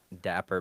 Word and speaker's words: Dapp3r: you know online oh yeah everything is at dapper Bay like BAE like girlfriend or also but